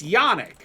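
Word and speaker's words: Janik: So, it's Yanik. And I had And I had to pull it up and look up how they how they spelled that. It's spelled J an I K.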